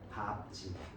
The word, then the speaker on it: 밟지: 밥고 밥지 밥다 밥속 예외입니다. 뒤에 모음이 오면 밟아 밝은 이렇게 되는데 자음이 오면 밥으로 바른돼 됐죠?